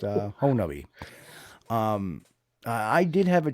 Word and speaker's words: Honobia: call it see hubbi it looks like hon honobia but it's actually pronounced uh honi um I did have a chance to speak